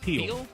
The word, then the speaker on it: Peele: Peele. Yeah. So the other E is silent.